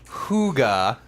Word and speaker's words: hygge: now let's BA see it's pronounced hygge we all have those